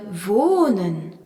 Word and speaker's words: wohnen: Dans la leçon 1, nous avions vu le verbe wohnen, habiter, où le H prolongeait la voyelle O.